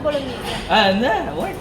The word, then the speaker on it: bolognese: How do you pronounce this? Tagliatelle alla bolognese. Tagliatelle Slow, alla slow. bolognese. Bolognese.